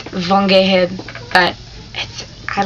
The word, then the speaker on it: Geheb: But in Germany, or in German, it's Von Geheb, but I like my maiden name, even though people always get it wrong. Geheb, because it's spelled G-E-H-E-B. So people are like, Geheb? Geheb? No. Gehebi?